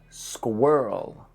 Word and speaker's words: squirrel: Number 2, squirrel. Think of it more like S-K-A-W-E-R-L. Squirrel.